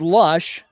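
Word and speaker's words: Losch: is outside ball one pronounced lush spelled ello es CH Baker trying to get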